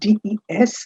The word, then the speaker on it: des: is why in french for this des that's pronounced as they there is no equivalent